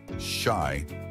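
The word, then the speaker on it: 四: In Japanese culture, the number four is considered unlucky because its pronunciation shy is similar to the word for death.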